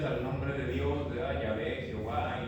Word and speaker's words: Yahvé: Y nosotros, la palabra Yahvé, pues es porque así la pronunciaban los samaritanos.